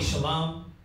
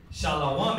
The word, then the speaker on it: shalom: Oh brother, you're not saying it right. Technically you want to say shalom. Peace to you. You know what I mean? But it's not wrong to say shalom.